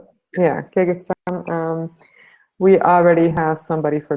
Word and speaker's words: Kyrgyzstan: I know there's already somebody for, now I need to see if I can pronounce it correctly, Kyrgyzstan? Is that how you say it? Yeah, Kyrgyzstan.